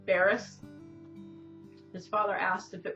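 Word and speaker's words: Bearss: it's spelled b-e-a-r-s-s yeah or something and it's pronounced barris his father asked if it was bare ass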